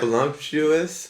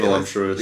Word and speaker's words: voluptuous: Voluptuous, right? Voluptuous.